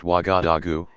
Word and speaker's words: Ouagadougou: Ouagadougou, pronounced Ouagadougou, is the capital of the West African country of Burkina Faso.